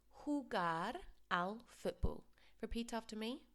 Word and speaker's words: jugar: So remember, a J sounds like an H in Spanish. Jugar al fútbol.